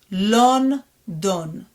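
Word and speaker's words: לונדון: It's going to be Lon, Lon, and then Don, Lon, Don. Does it sound familiar? London. London is London.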